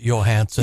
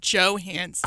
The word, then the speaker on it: Johansson: Up there in the Great White North, they'd pronounce it Johansson. Yeah. Right. Yeah. Johansson. You betcha. It's not unreasonable to pronounce it that way. And but she's also a big enough star that I can't believe you don't just know that it's Johansson.